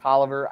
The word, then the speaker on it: Taliaferro: Most of Taliaferro, or it's been pronounced Tolliver, I don't care that this doesn't sound right, but Taliaferro is going